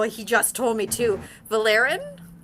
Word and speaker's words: Vaelorin: The Oh, he just told me to Valerin? I'm Valore. Valoren.